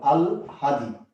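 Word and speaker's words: আহ্লাদি: উচ্চারণটা একটু ভালো করে খেয়াল করো। আল হাদি, এটা হলো এটার উচ্চারণ শব্দটা। আল হাদি।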